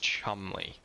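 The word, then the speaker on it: Cholmondeley: It's pronounced Chumley. I mean, I've heard the name Chumley before, but that is not how you pronounce that word.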